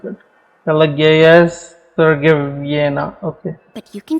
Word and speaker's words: Pelageya Sergeyevna: My name is Pelageya Sergeyevna. Okay, I'm not gonna be able to pronounce it. Pelageya Sergeyevna.